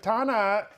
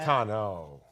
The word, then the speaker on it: Tano: Uh, we got word that, uh, Ashoka Tana the series has started shooting. So close. I butchered that. You just said Delaze. You said you said Ashokana. Is it Tano? Tano. Tano. My man.